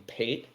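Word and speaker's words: pâté: Pate is just the E has an accent on it, aigu okay.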